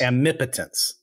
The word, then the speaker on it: omnipotence: Isn't it AMI potent? Yeah. Okay. Right. Challenge round. Say it differently each time. Yeah. Say it again. How you say it, Tom? I say it omnipotence. Omnipotence.